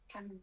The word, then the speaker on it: chamomile: Chamomile tea? Chamomile.